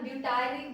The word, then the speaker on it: butyric: एक सेकंड, इसके स्पेलिंग आप करेक्ट करना, ब्यूटायरिक बोला था मैंने, BUTYRIC।